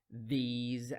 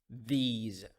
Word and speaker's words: these: The S in these words pronounced as Z sound. Those, these.